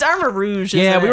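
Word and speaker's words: Armarouge: It's Armor Rouge. Yeah, isn't we it? Were calling him Armor Rogue, but it's Armor Rouge.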